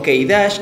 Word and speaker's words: K′: así que empecemos con su vídeo acá ha pronunciado correctamente como que irak es un personaje que apareció por primera vez